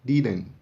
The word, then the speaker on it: didn't: Mas geralmente esse T final é mudo. Então você ouvirá apenas didn't.